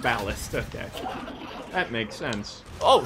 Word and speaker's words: Ballast: What's the actual pronunciation? Ballast. Ballast, okay.